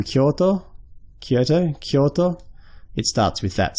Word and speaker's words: Kyoto: So Kyo you might recognize from the city name Kyoto.